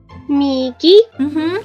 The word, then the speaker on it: 右: So repeat after me, starting from the top. 右. Migi. Perfect. Migi means right, like as in the right hand, right.